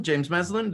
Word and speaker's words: James Meslin: James Meslin, did I pronounce that right?